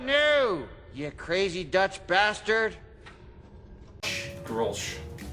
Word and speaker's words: Grolsch: Goulash. How about new, you crazy Dutch bastard? Grolsch. Oh, Grolsch. Grolsch. Is that how it's pronounced? I thought Yeah. it was goulash.